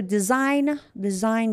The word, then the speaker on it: design: So design, G is silent.